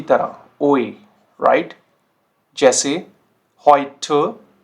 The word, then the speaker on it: heute: जैसे heute, heute, teuer, teuer, Bäume, Bäume। तो ये साउंड कैसे कर रहा है, ओए।